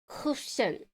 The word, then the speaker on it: Kuchen: Oh, is that like a k sound with nobody but Germans can pronounce? Baumkuchen? Okay, yeah, you're right. I probably can't. Kuchen. Yeah, that's CH.